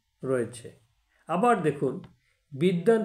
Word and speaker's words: বিদ্বান: উচ্চারণ রয়েছে আবার দেখুন বিদ্যান শব্দেও দ এ ব ফালা রয়েছে কিন্তু ব এর কোন উচ্চারণ নেই কিন্তু দ দুবার উচ্চারিত হয়েছে তাহলে দ এ ব